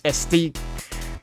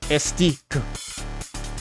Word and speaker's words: Estique: This is a small e, so it's esteed. Esteed. So, it's it's it's not supposed to be pronounced the Spanish way.